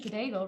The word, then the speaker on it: Cadaigle: for this our mandy cadaigle rhymes with bagel love that from boston